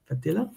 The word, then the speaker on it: Fadilla: So, today's live guest is I'm gonna say Fadilla. Fadilla. Am I saying it right?